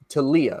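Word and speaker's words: Taulia: Talia.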